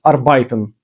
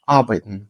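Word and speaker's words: arbeiten: 90% точно учнів кажуть арбайтен. Нема слова арбайтен. Не існує слово арбайтен. Запам'ятайте, будь ласка, є слова абайтн. Айн на а наголос. На а не на ай, не на еі, не арбайтн, а абетн.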